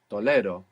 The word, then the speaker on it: tolero: tolerate to too good tolero and you move the accent back as well which is essential for the present tense very good if you said tolero it would mean he tolerate did which as I mentioned will be useful for us later when we learn this tense but it's important in the present tense to have the accent on the penultimate syllable too what was to